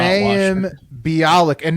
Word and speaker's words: Bialik: Bialik.